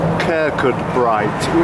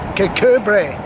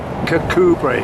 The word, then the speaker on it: Kirkcudbright: just asked this gentleman, how do you pronounce Kirkcudbright, which is what the English would say, because that's more or less as it's spelt, and that's how I've always said it. But what's the Scottish sort of translation of that?